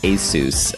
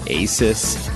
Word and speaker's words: Asus: forward slash radio and yes the company is pronounced ASIS I know that for years I called it Asus and many other people do it as well